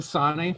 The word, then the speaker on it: Sanneh: okay so for uh it's the sony foundation uh that's the pronunciation uh as we talked